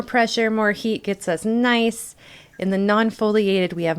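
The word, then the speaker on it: gneiss: extreme the beautiful the nice yes again it's nice that is how it is pronounced these are all wonderful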